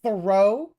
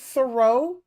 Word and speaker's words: Thoreau: And Thoreau? David Thoreau? What the fuck? Thoreau, like, what is it with him and enunciating and putting the emphasis on the wrong syllables?